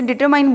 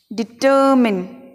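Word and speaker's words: determine: इसमें next डिटरमाइंड कि हमें इसे डिटरमाइंड बोलते हैं लेकिन यह बिल्कुल गलत उच्चारण है हमें बोलना है डिटरमिन देखिए डिटरमिनिंग चाकू वह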